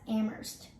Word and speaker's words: Amherst: you drop the h sound this one is pronounced as amherst people say flew me once shame on you